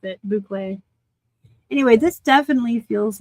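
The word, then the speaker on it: bouclé: It's soft, but you can like feel boucle. Thank you, Nancy. Buckle. I'm so uncouth. I have absolutely no class. It's buckle.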